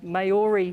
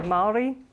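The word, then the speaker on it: Māori: It's pronounced Maori here. I think a lot of it's a pronunciation, but we say Maori.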